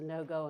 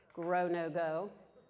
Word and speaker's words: Grow No-Go: But you'll be seeing things there as far as the no-go, and I'm saying it wrong. Grow no-go. Yes, that's right.